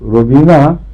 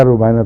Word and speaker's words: روبینہ: روبینہ تو اردو نام ہے ایک، اس لیے زبان پہلے روبینہ آتا ہے، مگر ہے روبائنا تلفظ اس کا.